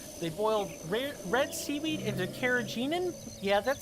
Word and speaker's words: carrageenan: They boiled red seaweed into carrageenan. Yeah, that sounds right. I looked up the pronunciation to be sure that I was saying carrageenan correctly.